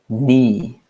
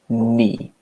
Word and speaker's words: knee: can repeat at home you can repeat the pronunciation it's me me we don't say the the case out we just say me like the word no I know okay we